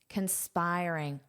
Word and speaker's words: conspiring: Now, notice where that syllable stress is. Conspiring. Conspiring. Dada. So here the syllable stress is on this syllable and this sounds like I I So we have these two sounds I conspiring conspiring and when you conspire